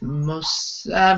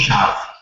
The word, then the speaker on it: Moshav: Today we're here talking with Moshav. I pronounced that wrong, and I knew I was going to do that.